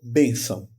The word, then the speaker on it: bênção: Só que aí eu tenho uma palavra, por exemplo, como bênção. Bênção. B-E-N, C cedilha, A-O, tio. Bênção tem acento circunflexo no E. Veja que eu falo bem, B, bem.